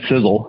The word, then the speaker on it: Sisel: stand for something literally it's right in our name sizzle it's spelled sisel and it's an acronym